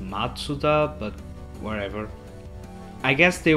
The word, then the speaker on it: Mazda: bit misleading I guess Mazda apparently it should be pronounced matuda but whatever I guess